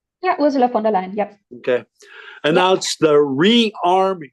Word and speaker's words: von der Leyen: On March 6th, European President Ursula von der Leyen, did I pronounce that correctly? Yeah, Ursula von der Leyen, yep.